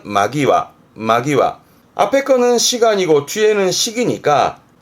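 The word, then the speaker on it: 間際: 그러니까 간제라는 말은 없으니까 이때 시간의 간자의 훈독은 마. 그래서 발음은 마기와.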